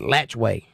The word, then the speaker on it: Alachua: can't even pronounce that I lived in a town once that was spelled Alachua a-l-a-t-c-h-u-a Alachua and everybody there called it latchway latch way this is Florida that's